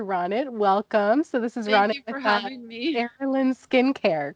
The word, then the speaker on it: Arilan: have you here rotted welcome so this is Raul in skincare correct yes I pronounced it properly say it again Errol in skincare is awesome so tell me about yourself